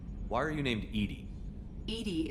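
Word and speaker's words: EDI: are you named Ed Ed is the phonetic pronunciation of e i that is an acronym for enhanced defense intelligence what do you do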